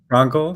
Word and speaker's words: Frankl: And you're the grandson of the great Viktor Frankl. Is it Frankl? Am I saying it right? Frankel, yes, Frankel. Frankl? But Okay. I'll understand if you say Frankel. That's fine. Yeah, that's an American thing, right?